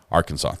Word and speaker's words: Arkansas: you stole their name you changed the pronunciation and you put R in front of it like it's ours Arkansas those are my only